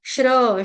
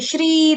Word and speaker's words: श्री: श्री नहीं बोलेगा कोई ना ही श्री बोलेगा सपेरे वाला स सूरज वाला नहीं है श्री श्रम वाला मेहनत वाला श्रम का मतलब होता है मेहनत करना श्र श्र श्री श्री दीर्घ मात्रा क्लियर हो गया समझ